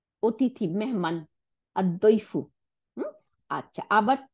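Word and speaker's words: الضيف: হুম, আচ্ছা, তারপর সে দদ, হ্যাঁ, দদ সে আদইফু, অতিথি, মেহমান, আদইফু।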